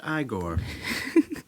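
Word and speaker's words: Igor: I mean I'm just I'm in stitches literally pronounced i Gor how come it's not Froude trick from Kingston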